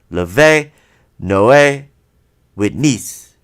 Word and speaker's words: Levenoewitness: So I was like, Leve. If they asked, that's how I pronounced it. Leve Noe Witness.